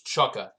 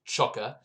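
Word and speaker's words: Csóka: the outside back role so okay so it's chukka uh i got confirmation from the commentator uh his his last name is pronounced chukka and he is hungarian by the way so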